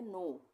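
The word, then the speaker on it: know: के साइलेंट हो जाएगा। हम इसको पढ़ेंगे नो।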